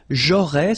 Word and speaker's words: aurais: J'aurais, so final S, not pronounced.